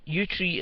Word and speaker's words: Yewtree: the United Kingdom um operation utri utri is spelled y e w t r e e it's a police investigation